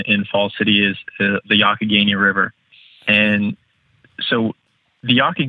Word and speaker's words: Youghiogheny: we're focusing on in Fall City is the yaki Guinea River and so the yaki gaining River kind